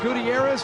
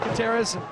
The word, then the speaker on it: Gutierrez: sudden everybody started asking is it gutterz or Gutierrez well we we know how to say it now it's it's Matt gutterz he's real all I